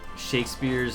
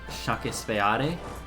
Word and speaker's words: Shakespeare: Did you know that in Spanish-speaking countries, lots of times Shakespeare's name is pronounced Shakespeare? Not even joking. It's pronounced Shakespeare. Vamos a leer Shakespeare.